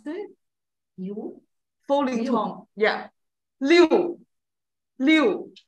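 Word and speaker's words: 六: So six, Susan, can you try to pronounce it? Liu.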